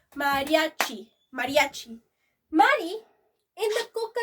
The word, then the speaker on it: Mariachi: More of three syllables. Mariachi.